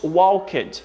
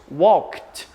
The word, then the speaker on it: walked: assim ué do Ed Então nós não falamos walked nós falamos walkit como se o Caio